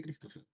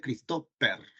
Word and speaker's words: Christopher: qué Christopher Qué pasa Por qué Christopher así se pronuncia verdad porque si no sería christoper O sea tú sabes